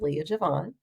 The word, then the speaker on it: Leiya J'vonne: So LeiyaJvonne is pronounced Leah Javon.